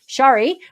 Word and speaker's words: Shari: Shari, my name is pronounced with the short A as in apple, um then long E sound for the I. So, Shari, I believe it is.